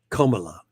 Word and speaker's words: Kamala: Kamala. Yes. I don't give a shit. It's basically a bit like saying comma as in like a punctuation.